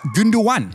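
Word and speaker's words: Gündoğan: But apparently, it's Gündogan. Gündogan. Chocolate is so good. Oh. And speaking of names I've previously butchered in our YouTube videos is this man.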